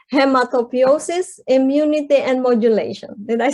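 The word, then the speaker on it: hematopoiesis: Little did I know that it's actually, so this is difficult to pronounce. It's hematopiosis, immunity, and modulation.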